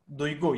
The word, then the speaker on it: Duygu: Doigu? Your name? Is it Doigu? Duygu. Yes, Duygu.